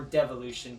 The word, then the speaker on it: Devolution: De-Evolution. Or Devolution, depending on how you want to pronounce it, but I'm going to call it De-Evolution. It's a series that was